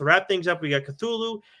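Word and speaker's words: Cthulhu: things up we got cthulu death may die issue culu really it's culu yes oh okay here we go I stand corrected my apologize silent oh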